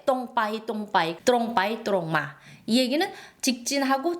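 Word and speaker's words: ตรงไป: 자 빤뜻이 가다 뚜롱바이 적을 때는 뚜롱이지만 이걸 빨리 발음하면 똥이 돼요. 똥바이 똥바이 뚜롱바이 뚜롱마이 얘기는 직진하고 직진해서 직진해서 가고 직진해서 오다라는 뜻이죠.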